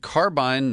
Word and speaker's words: Carbyne: It is called Carbine 911. And Carbine is spelled with a Y, Carbyne.